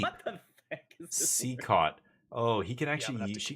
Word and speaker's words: CECOT: Seacaught, because it's the way you say it. You don't say CECOT. You say Seacaught.